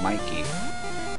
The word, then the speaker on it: Mikey: up so i'm sorry i used to pronounce that as mickey but it's clearly mikey because it was mickey there'd be a c in that i missed come on